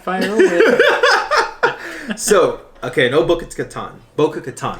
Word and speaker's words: Bo-Katan: So, okay, no Bogatan. Bogatan, right? Is how you say it? Bo-katan.